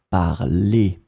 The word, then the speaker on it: parlez: So phonetically, it is exactly the same form as the infinitive, but you need to write it like that. Vous parlez.